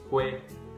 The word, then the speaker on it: quê: phát âm được á, bỏ chữ Q đi, lấy chữ C viết vào đó thì các bạn sẽ phát âm được chữ đó. Giống như từ cua ấy, C, U, A, C, U, A là cua. Thì bây giờ mình cũng bỏ chữ này đi, C, U, E. Chắc chắn là bạn sẽ phát âm chữ này là chữ C, U, E, đọc là quê, đúng không?